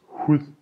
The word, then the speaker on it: hud: Food in Danish is mad. Skin in Danish is hud. Notice that both of these words is not pronounced with a hard D, but with a soft D. Mad, hud.